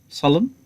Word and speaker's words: solemn: Well, the silent N is equally realized as in some words like condemn, solemn, and column. This N sound there, letter N, is not pronounced.